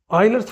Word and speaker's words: Euler: Oiler's formula right Oiler's formula for a polyhedron. This is not Euler's formula. See in the it is colorly given. It is pronounced as oiler.